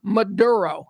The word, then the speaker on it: Maduro: Maduro. That's how we say it. His name is Nicholas Maduro. That is an American accent.